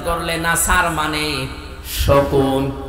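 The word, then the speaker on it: نصر: আপনি অর্থ পাল্টিয়ে ফেলবেন এই যে যারা সূরা নাসর পড়ে আমি তো ইজাজা নাসরুল্লাহ বলেছি এখানে সোয়াদ আছে মুকুল হবে সিন দিয়ে উচ্চারণ করলে নাসার মানে শকুন বা ইগল অথচ নুন সোয়াদ র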